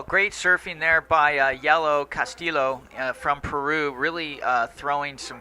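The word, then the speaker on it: Joaquín del Castillo: They got caught inside by that scratching set, and the correct pronunciation of Joaquin de Castillo. Castillo, perfect. Castillo.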